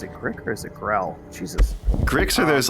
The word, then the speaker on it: Grell: the Grell, but they am I saying it right? Give me a second. Yeah, Grell. Grell is what they're called. I just want to make sure that I'm not saying the wrong.